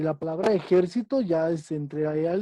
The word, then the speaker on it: ejército: Juan ya se ejercitó ayer, pero no es lo mismo que decir la palabra ejército, porque su sílaba tónica está en la penúltima. Yo siempre me ejercito. Y la palabra ejército ya es entre ahí al ejército, es una palabra esdrújula.